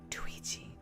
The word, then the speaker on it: Twigi: It's like Luigi with a T. So, do I replace the L with a T? Twigi.